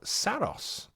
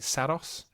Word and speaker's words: Saros: a new game called Saros I think that's how we're going to pronounce it right Saros yeah I think it's Saros SOS coming in 2026